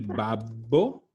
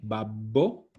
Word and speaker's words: babbo: Como il babbo, ojo la doble B, babbo, o il papá.